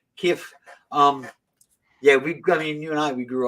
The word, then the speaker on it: Kiev: Because it's two syllables that just blur together. Kiev.